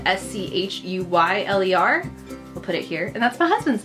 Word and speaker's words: Schuyler: fact John Schuyler more it spelled Schuyler spelled SCH u yl ER we'll put it here and that's my husband's name so that's always fun it's pronounced Schuyler but yeah fun fact and I